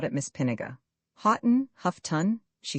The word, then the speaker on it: Houghton: "It is always pronounced Huffton," said Miss Pinniger.